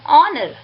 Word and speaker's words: honor: An is also used before a word beginning with H but not sounded which means H is silent in this words and these words begins with the vowel sounds.